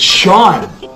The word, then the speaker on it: Sean: Which means this word is... seen? No, it's Sean. Why would you think? It's because it's a name.